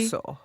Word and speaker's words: Vilasuso: It's so funny because the name is just like phonetically. Vilasuso.